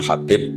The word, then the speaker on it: Habib: Ada yang nulis Abi Abdurrahman Habib Asulami. Itu di harakatnya kitab itu ada yang nulis khudab. Lalu yang benar. Oh nggih. Yang benar itu bacanya habib.